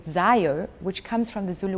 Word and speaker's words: Zaio: Zaio. Zaio, and can you spell that for me?